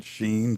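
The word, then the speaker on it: Shein: Now the first, I guess it was maybe when Sheen came. Is that how they say it, Sheen?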